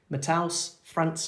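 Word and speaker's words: Matheus França: football Jefferson learner um mataus France I believe is how it's pronounced but I may have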